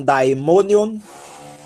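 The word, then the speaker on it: δαιμόνιον: tá foi otta né olha o ditongo aqui ó aí as duas vogais são pronunciadas aí dai mo Daemon nion by money on e o que é um daimonion é o demônio tá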